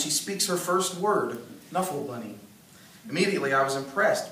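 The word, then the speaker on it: Knuffle: speaks her first word, Nuffle Bunny. Immediately, I was impressed because the little girl's first word was actually 2 words, 4 syllables with a silent K at the beginning.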